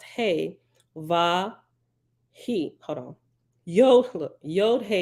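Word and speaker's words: ו: the answer is simple the Hebrew letter VA makes a sound that is not exactly the same as any English letter but it's closest to a cross between V and W if you put your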